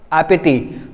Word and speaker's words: appétit: Again if you see appétit, the ending is t, so we are not going to pronounce t out here because it's a consonant again, so we are going to pronounce till I, that is appétit.